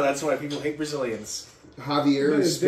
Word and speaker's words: Javier: Javier is They spelled with a speak, J, they speak not an Portuguese H.